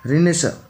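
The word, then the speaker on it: Renaissance: रेनेसांस spelling होती है इसकी, स्पेलिंग पे ध्यान दीजिएगा। कभी कभार जो स्पेलिंग एरर से रिलेटेड क्वेश्चन है उनमें भी पूछा जा सकता है इस टाइप का क्वेश्चन। रेनेसा, इसको रेनेसा बोलते हैं।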